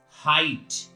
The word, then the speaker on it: height: If at the last of any word GH or GHT is found, in that condition GH is silent. As example, H-I-G-S-T, height.